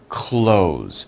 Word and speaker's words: clothes: right close the door this is the same pronunciation clothes i am wearing clothes